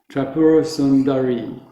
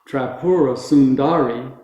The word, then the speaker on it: Tripurasundari: The only long vowel in Tripurasundari is the last one, so it's E. So it's Tripurasundari. It's not Tripurasundari, which is what all English-speaking people want to do.